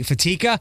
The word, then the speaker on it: Fatica: She is Fatica. That's Fatica for those that like to mispronounce it.